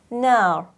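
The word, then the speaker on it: نار: of fatha, for example, nar. Long vowel of fatha, here I will pronounce the ra with a full mouth.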